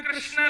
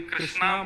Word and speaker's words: कृष्ण: कृष्ण लाल की बंधु कई लोग इस नाम को अशुद्ध बोलते हैं कई लोग कृष्ण बोलते हैं कई लोग कृष्ण बोलते हैं कोई कृष्णा बोलता है भगवान का नाम शुद्ध उच्चारण करो नाम क्या है कृष्ण भवान जय श्री कृष्ण